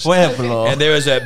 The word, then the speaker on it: Pueblo: And she had a six-month revival, and I don't know how to pronounce this town, Erica, in Colorado, P-U-E-B-L-O, Pueblo.